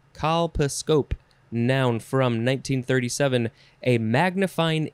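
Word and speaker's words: colposcope: some reason next is kalpaskop no nope nope that's not how you say it call pascope there's scope at the end calpascope noun from 1937 a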